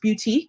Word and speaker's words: Beautyque: It looks like BeautyQ, but it's pronounced Beautyque, like boutique and beauty.